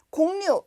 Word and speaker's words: 곡류: 말이다 이렇게 설명되어 있고요 공류 요거는 발음을 요렇게 합니다 공류음 공류 이렇게 발음하는데 공유를 사전에서 찾으면 쌀